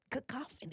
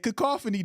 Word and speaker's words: cacophony: should tell us uh how it is pronounced cacophony cacophony I said cofy didn't I no de